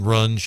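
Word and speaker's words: Runge: to the event and if you haven't seen Rune it's just gorgeous wonderful facility they do a great job so it's run not rungi run it's pronounced run because I had a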